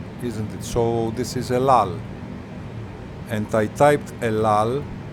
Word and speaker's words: El Al: El Al, you see, it is pronounced correctly sometimes. El Al.